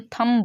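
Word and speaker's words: thumb: ठीक है, थंब ब नहीं होता, बी साइलेंट रहता है, थंब बोलते हैं।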